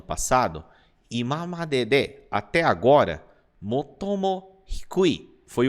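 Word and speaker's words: もっとも: Pronuncia assim, ó, motomo.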